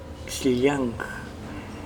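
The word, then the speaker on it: Xllang: Es X-L-L-A-N-G, Xiliang.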